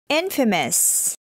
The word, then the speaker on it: infamous: Comes word number three it is not pronouncing famous instead it is pronounced as Infamous Infamous famous and Infamous